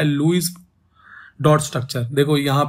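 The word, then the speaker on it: Lewis: Structure, देखो यहाँ पे इसका प्रोनाउंसिएशन लुईस है, बट क्योंकि वी आर इंडियन तो जैसा हमें दिखता है वैसे ही पढ़ते हैं, ठीक है। तो मेरी भी आदत हो गई लेविस बोलने की इसको।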